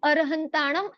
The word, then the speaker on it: अरहंताणं: वहां पर मूल में अरहंताणम ऐसा लिखा हुआ मिलता है। इसीलिए हम शुद्ध उच्चारण के रूप में अरहंताणं ऐसा बोला जाता है और आप यदि पुस्तकों में देखेंगे तो भी आपको मुख्यतया अरहंताणं ऐसा ही मिलेगा।